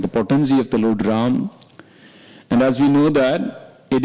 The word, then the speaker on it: Rama: potency of the Lord Ram. And as we know that, it is mentioned that Ram, this is two syllable, Ra and Ma.